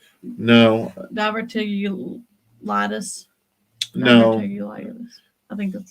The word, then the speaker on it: diverticulitis: Diverculosis. No, Diverticulitis.